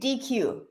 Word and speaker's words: Deque: How do I Yeah, pronounce it's actually DQ.